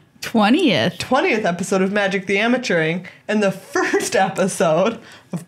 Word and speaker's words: Amateuring: Well, I just say amateuring the way that it sounds. What do you mean? Like, that's how I tell people to spell it. Like, amateuring. It's like the way that it sounds. Like amateur and then put ing on the end.